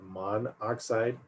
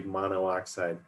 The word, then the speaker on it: monoxide: and you'll notice that here we just put mon oxide not mono oxide sometimes when it's pronounced you'll hear someone say mono oxide but generally carbon monoxide is what you hear